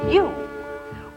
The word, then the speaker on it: you: with star r star our last spy for today is you where are you you also rhymes with shoe shoe who spy words are